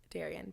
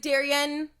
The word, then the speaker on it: Darian: Darian. Daria? Darian. Yesterday I had a table. They're like, what's your name? I was like, Darian. They're like, Darian?